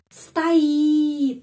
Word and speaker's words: стоит: Ya, стакан, стоит, ya, стоит. Karena itu O ini dibaca A. Стоит karena penekanannya pada huruf I. Karena ada peraturan kalau huruf O tidak mendapat penekanan, huruf O pengucapannya A.